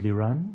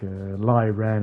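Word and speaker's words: Liran: A lot of people actually say, you know, like Lai Ran and all that. It's a Hebrew name.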